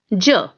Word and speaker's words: je: person it is j j okay it is pronounced as ja which means i okay now in second person